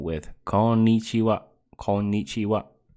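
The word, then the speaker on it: こんにちは: corn eats you up konichiwa it's got a double n in it so you have to pronounce the the mmm sound so gon need you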